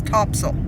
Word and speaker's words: Topsail: miles it is spelled top sale but it's pronounced by the locals topsel bunch of beach Bungalow type places mostly rentals